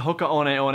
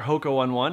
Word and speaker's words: Hoka One One: who are drawn to Hoka on on or Hoka one1 if you choose to pronounce it that way are done so